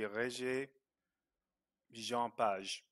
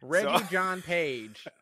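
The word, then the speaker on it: Régis-Jean Page: Okay, so, and if you were going to pronounce it in French, it would be Régis Jean Page. That's how you pronounce yes. it, but I am pretty yes. sure that that is not how. He pronounces it, so it's probably Reggie John.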